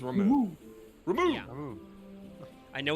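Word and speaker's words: Ramuh: They do pronounce it in this game as Ramu. Oh, it is remove.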